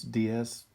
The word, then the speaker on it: DS: a play on words ds can mean different spirit or distinctive series d s and french also sounds like the word for goddess so it's kind of